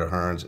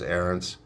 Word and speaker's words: Aarons: how to pronounce it i was calling it a hearns it's aarons and um i also